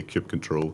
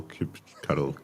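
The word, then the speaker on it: kubectl: of time to understand how to say cube control, cube cuddle, cube cuddle, cuz nobody knows.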